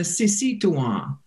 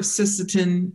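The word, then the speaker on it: Sisíthuŋwaŋ: that's the dwellers among the leaves, and the Sisituan, the dwellers among the fishing grounds. So the Wachpetuan and the Sisituan, now if you're from here and you've lived here a while, you've heard of Sisseton, you've heard of Wahpeton.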